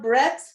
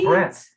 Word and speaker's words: breadth: Like, it's not breath. Breathe. Oh, breadth.